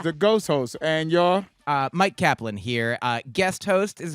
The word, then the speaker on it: Myq Kaplan: So Mike Kaplan is spelled MyQKaplan at Mike Kaplan on all the places.